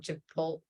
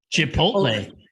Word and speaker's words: Chipotle: right, so I'm going to say it wrong, Chipotle, whatever. Chipotle.